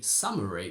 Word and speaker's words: summary: library or library but you can only say summary because although we have three syllables and the first one is stressed we only have a short single sound ah and that's it for